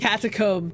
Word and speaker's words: catacomb: Catacomb to rhyme with tomb.